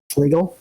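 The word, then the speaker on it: Fliegl: Like I think it's I don't remember how to say it. I think it's a Fleegee or a Fleagle. Yep. Fleagle.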